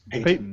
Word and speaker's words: Peyton: name by the way pettin peyton reed pe how do you say that p-e-y-t-o-n peyton i believe like peyton manning so yeah he he